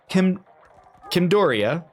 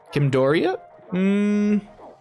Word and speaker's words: Kimordia: We have Kimdoria. Kimordia. There we go. I think that's better how you say it.